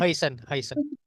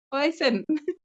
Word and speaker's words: Huijsen: Ada rumor juga nih Mas, seputar pemain kita, ada Dean Huijsen ya, bener ya bacanya? Heisen. Huijsen, agak susah ya lidahnya ya.